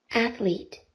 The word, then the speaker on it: athlete: Welcome to top notch que se pronuncia con el símbolo tita sería de esta manera anlet o se representaría en el diccionario de esta manera athlete athlete athlete con el símbolo a el símbolo tita y luego LL Recuerden que el símbolo tita es la pronunciación de la Z española athlete Entonces yo les